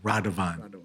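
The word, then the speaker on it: Radovan: No no spell it. R A D O V A N. And Radavan from Slovenia.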